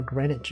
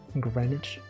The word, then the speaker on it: Greenwich: Green Witch Greenwich. The W is not even like there.